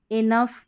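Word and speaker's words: enough: इसका कोई नियम नहीं है, मतलब इन स्पेलिंग्स में हम जी एच को फ पढ़ रहे हैं।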